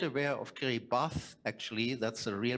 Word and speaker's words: Kiribati: is Kiribati if you are not aware of Kerry bath actually that's a real pronounce pronunciation yeah then you'll see here the